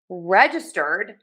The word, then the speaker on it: registered: Now for registered, we are going to stress syllable number 1, reg. And it is a J sound there. Ja, ja, ja. Touch the tip of the tongue to the back of the top front teeth for that sound.